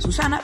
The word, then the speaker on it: Suzanna: Para los que no me conozcáis, me llamo Susana, que se pronuncia Susana, pero se escribe con Z.